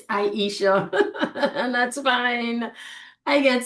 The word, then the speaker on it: Aisha: the conversation, but I don't think I ever pronounce my name properly for you. It's Aisha, and that's fine.